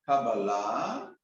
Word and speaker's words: Kabbalah: can pronounce it as Kabbalah which is the Hebrew way of saying it you can say Allah